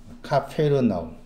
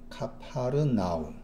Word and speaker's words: 카페르나움: 카페르나움 발음. 카페르 혹은 카파르입니다. 카파르나움. 카파르나움, 카페르나움을 이제 번역으로 가버나움 한 거죠.